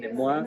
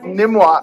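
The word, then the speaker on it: NMWA: in the arts we always yeah we we pronounce the acronym nimmoa nimmoa okay one Saturday of the month every other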